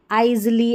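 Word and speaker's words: aisle: और यहां पर इसको अ इज़ली ऐसे या आईली ऐसे नहीं आईल करके पढ़ते हैं।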